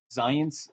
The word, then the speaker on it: Zajonc: This was a big debate between two major social psychologists, Zients and Lazarus. So Robert Zients is a very famous, Z-A-J-O-N-C, that spells Zients, rhymes with science, and Lazarus.